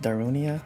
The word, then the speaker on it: Darunia: right another Master spirit this is pronounced darunia I haven't played Ocarina